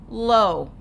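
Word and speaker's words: לא: When you see that dot above a letter, it's going to say O, so you're going to say the sound of the letter first, lo.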